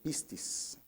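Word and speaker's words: πίστις: en este se tradujo del griego pistis con acento en la pistis así tal cual como se escucha Y quiere decir persuasión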